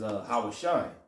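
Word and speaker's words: הושע: Hosea, how you say it in the Hebrew, is Hawashai, which means deliver, see?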